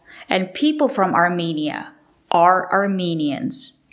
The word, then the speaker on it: Armenian: The country is Armenia, and people from Armenia are Armenians, and they speak Armenian, not Armenian.